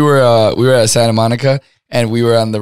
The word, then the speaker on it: Santa Monica: fun fact though ellie people don't pronounce the t santa monica santa monica santa monica